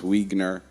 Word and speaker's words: Wiegner: said his last name is pronounced like weiner but with a g um he's a producer